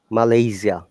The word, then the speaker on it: Malaysia: pronounced the name of your country very correctly malaysia most of the people do not pronounce it correctly similarly remember that if you